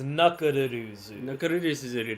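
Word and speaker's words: ナックルズ: Knuckles' name in Japanese is Nakuruzu.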